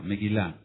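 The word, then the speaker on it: מגילה: rollo o pergamino meguila meguila con acento en la a en la fonética meguila m e g de gato u i L A meguilá rollo o pergamino megale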